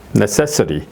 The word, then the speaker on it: necessity: 이렇게 발음되죠. necessity 이렇게.